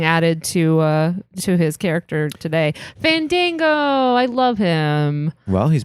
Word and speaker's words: Fandango: Oh, his debut was fun because he would argue that nobody could say his name right because people would say Fandango and he would go, no, it's Fandango, and nobody would do it, and then he would refuse to debut.